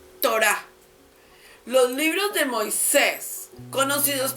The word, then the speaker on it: Torá: La historia una es la torá que se pronuncia torá los libros de Moisés